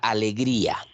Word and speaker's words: alegría: Entonces acá yo tengo, por ejemplo, a ver, la palabra alegría. Miren, si yo pronuncio la palabra alegría, me doy cuenta que la vocal I, que es la vocal cerrada, suena más fuerte, ¿no? Alegría.